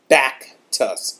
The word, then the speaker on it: Baktus: information about this scarf now I have been mispronouncing it it's the back to us scarf be a Katy us I'll put a